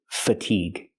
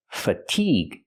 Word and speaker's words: fatigue: not stressed f f fatigue stress the second syllable make the long e sound like green beans fatigue with the hard